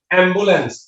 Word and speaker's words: অ্যাম্বুলেন্স: এই যে আমরা লিখলাম অ জফলা আকার, এটার উচ্চারণ হচ্ছে এ, এভাবে টেনে বলতে হবে এ, এটাকে বলি আমরা এ, এটাকে বলতে হবে এ। যেমন অ্যাম্বুলেন্স, একটি শব্দ আমরা বলি অ্যাম্বুলেন্স, এভাবে লিখতে হবে অ্যাম্বুলেন্স, অ্যাম্বুলেন্স একটু টেনে পড়তে হবে অ্যাম্বুলেন্স।